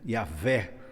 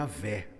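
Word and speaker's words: Yahweh: medo de falar, e eles perderam a pronúncia correta, não é? E até hoje tem essa dúvida. Hoje, no meio reformado, a gente tem compreendido pelos estudos, pelas pesquisas, que o nome seria Yahvé, aquele que é, o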